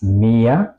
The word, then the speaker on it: Meer: Al contrario, las vocales suenan largas antes de una H, como lohnen. Si se repiten dos veces, por ejemplo, das Meer, el mar, o der Zoo, el zoo.